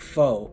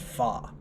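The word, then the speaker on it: pho: Vietnamese noodle uh that's spelled like foe p-h-o but it's pronounced fa so when she gave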